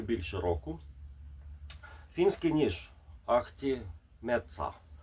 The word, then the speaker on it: Metsä: Фінський ніж ахті меца. А кажуть оце а в кінці меца воно ее фінське фінська вимова вона між нашою а і я.